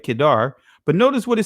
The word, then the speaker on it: Kedar: see it right here kedar and kedar and that's how you pronounce right kedar but notice what it